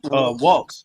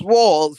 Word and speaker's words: Walz: It's It's Waltz. Waltz. like Walls, Walls. Walz. Waltz. But it's pronounced Walls, right? No, it's pronounced Waltz.